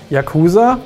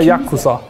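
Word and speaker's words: Yakuza: zu machen lustig jaa sagt man da jakuza oder yuza es gibt sogar die Aussprache jaa also dass das U quasi komplett verschluckt wird ja aber ich habe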